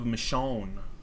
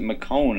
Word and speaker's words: Michonne: I was trying to like pronounce it McCone in my head, but I guess that's obviously wrong. I figured it'd be Michonne.